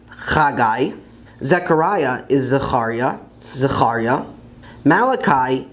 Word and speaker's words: חגי: The next book, which some people pronounce as Zephaniah, is actually Tzefania in Hebrew, Tzefania. Haggai is Chagai, Chagai.